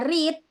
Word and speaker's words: read: itu read r r Jadi yang pertama bacanya read pakai I kalau yang kedua ketiga pakai e yang kedua ini bacanya